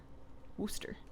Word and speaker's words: Worcester: I don't know why Worcester is the correct pronunciation since there's no Chester in the name Worcester may just have any movement speed legendaries I